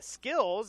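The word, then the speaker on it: SKLZ: By Skills, it's spelled S-K-L-Z.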